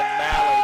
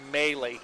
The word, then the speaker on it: Maley: We've been saying Malley, but it's actually Maley.